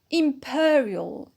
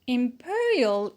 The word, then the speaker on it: imperial: is automatic secondary stress imperial imperial is an adjective as well and we put the stress on per imperial sorry imperial power we